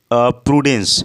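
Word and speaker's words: prudence: तो सिनोनिम्स क्या होगा, रिस्ट्रेंट, क्या होता है, रिस्ट्रेंट, या प्रूडेंस या प्रेडेंस या प्रूडेंस हम इसे प्रोनाउंस करेंगे, देख लीजिएगा आप, इसको प्रूडेंस कहेंगे, यानी सॉब्रिटी यानी संयम करना, गंभीरता लाना।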